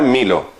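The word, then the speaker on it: μήλο: Se pronuncia milo, la manzana.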